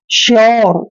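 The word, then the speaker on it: sure: आर ई आए देखिए दोस्तों यू के बाद आर ई आए तो यू को यो से पढ़ते हैं यानी कि यू का उच्चारण यो करते हैं जैसे एस यू आर ई देखिए यू के बाद क्या आया है आर ई ठीक है ना तो इसको हम क्या पढ़ेंगे श्यर क्या पढ़ते हैं ऐसे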